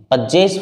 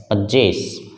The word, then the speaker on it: possess: थोड़ा सा समझते हैं पजेस वर्ड को। एक शब्द है, देखिए स्टूडेंट्स, POSSESS, पजेस। उच्चारण इसका होगा पजेस। जे के ऊपर स्ट्रेस लगेगा, जोर से बोलेंगे इस पार्ट को, पजेस।